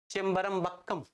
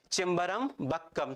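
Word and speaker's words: செம்பரம்பாக்கம்: ध्यान सुनना, उच्चारण ऐसे करते हैं इसका, चिम्बरम। और फिर यहां पर आएगा क्या? बक्कम, चिम्बरम बक्कम। क्या है? चिम्बरम बक्कम।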